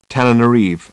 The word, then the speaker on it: Antananarivo: What you see on the map as Antananarivo is pronounced Tananarive, and for much of the century has been spelt that way as well.